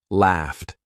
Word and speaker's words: laughed: Popped, walked, bluffed, laughed. I'm not saying laughed. I'm not saying laughed. I'm saying laughed. Laughed.